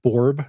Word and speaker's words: Borb: The library is called Borb. I'm guessing that's how it's pronounced, B-O-R-B.